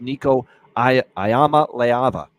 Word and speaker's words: Nico Iamaleava: number 1 guy full-time this year, and that's Nico Iamaleava is how you say it. Nico Iamaleava, the quarterback here for Tennessee, really looked good in the bowl game.